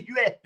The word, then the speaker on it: Huet: Remember Cristobal Huet's wife came out and said, no, my husband's last name, it's Huet. Don't say Huet.